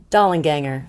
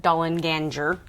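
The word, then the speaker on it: Dollanganger: the attic following the dollar ganger doll and ganger or as i pronounce it dolan ganger don ginger dollar ganger i like a soft g dollar ganger additionally the uh the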